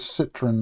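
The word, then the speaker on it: Citroën: a bunch on the Citrone engine build or Citroen pronounce it correctly. It is Citroen, not Citron.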